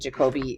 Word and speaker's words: Jacobi: It's pronounced in different people pronounce Jacobi in different ways. I've always just said Jacobi. I'm sure there's other ways to say it.